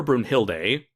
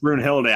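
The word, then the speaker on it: Brunhilde: pronounce your name and the anime's pronounced bruin hillary i kind of pronouncing bruin hilda right yeah uh i'm also i'm wondering if bruno hill does like the german pronunciation it sounds german yeah yeah but bruno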